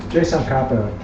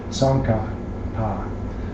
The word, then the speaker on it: Tsongkhapa: So finally, I found out from a scholar that everyone says Sankapa, and that is the pronunciation, and that's what I'll be saying mostly, because that's the way it is.